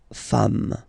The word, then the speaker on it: femmes: s at the end, and as we said, you don't pronounce it, so you get des femmes.